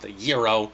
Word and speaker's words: gyro: look at Greek Town gyro yeah I know it's technically pronounced the yo but come on gyro